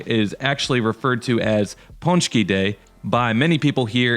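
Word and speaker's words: pączki: it in different ways most polish people that i've heard pronounce the word say ponchi so that's how i'm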